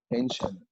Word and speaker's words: ancient: in the blue color ancient okay take care about it because ci here is pronounced as sh in shenz do you